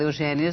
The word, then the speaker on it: Eugénia: Eugênia Melo e Castro, você deve ter percebido que eu fiz um esforço aqui para dizer Eugênia. E não Eugênia. E não né? Eugênia. O seu nome se escreve com acento agudo.